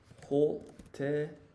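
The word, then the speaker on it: ホテル: Hotel is katakana, so it's hoteru, because they don't have L in Japanese.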